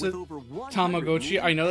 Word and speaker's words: Tamagotchi: Tamagotchi. I know it's classic. I know that is more than likely the actual pronunciation cuz it comes from the Japanese word tamago.